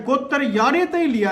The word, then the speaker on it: गोत्र: साल पुराणा है तो जो यह गोत शब्द है जिसका सही उच्चारण गोत्र है यो ऋग्वेद में